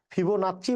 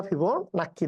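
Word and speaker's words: Fibonacci: আছে এটাকেই বলি আমরা ফিবো নাচ্চি বা ফিবো নাক্কি ধারা দুইটাই দুইটাই উচ্চারণ আছে কোন সমস্যা নাই ঠিক আছে ওকে আচ্ছা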